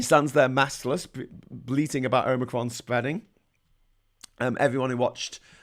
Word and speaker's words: omicron: nineteen i can't remember we'll know that it's pronounced omicron okay i'm i'm saying omicron o h like not omicron um uh yes uh